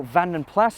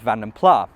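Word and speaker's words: Vanden Plas: a Flemish family name it's not French and so the S is not silent even if BMC later British leand did occasionally leave the S off and pronounce it as vanam pla anyway there was not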